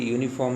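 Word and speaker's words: uniform: तो यहाँ देखिए यूनिफॉर्म में आपको यहाँ पर लग रहा होगा कि यू लिखा हुआ है। यू तो आपका क्या है, वोवेल है, बट उसको यू को आप देखिए, उसका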